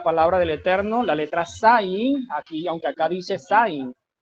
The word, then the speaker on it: Zayin: La letra Sayin, para los que están allí en Meet, pueden ver la letra, la forma como se escribe, y se pronuncia así, Sayin.